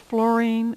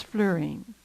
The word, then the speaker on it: fluorine: It's often pronounced fluorine, but I believe the preferred pronunciation is fluorine.